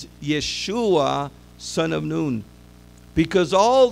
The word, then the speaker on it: Yeshua: So Joshua is known as Yeshua. And you could actually see it in Hebrew spelled the same way that we spell Yeshua today. By the way, his name is not Yahshua.